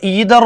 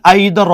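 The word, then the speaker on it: either: എന്താ വന്നിരിക്കുന്നത് ഓർ എന്നാണ് അപ്പോ ഈതർ ഓർ അല്ലെങ്കിൽ ഐതർ ഓർ ഈതർ ഓർ അല്ലെങ്കിൽ ഐദർ ഓർ രണ്ടു ഉച്ചാരണം നമുക്ക് വരാം ഇവിടുത്തെ സബ്ജക്റ്ിന്റെ പ്രത്യേകത നോക്കണം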